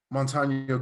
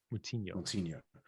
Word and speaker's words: Moutinho: Yeah, and I mean, the reality is at no point in that fight was Moutinho giving him, that's not how you pronounce his name. That's Moutinho.